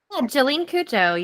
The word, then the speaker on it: Jolyne Cujoh: Listen, correct me if I say her name wrong. Okay, Jolene. Um, Cooa. Did I say that right? Jolene Kujo, you did you did well.